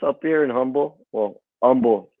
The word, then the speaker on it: Humble: Well, Humble. The H is silent. So yeah, Humble.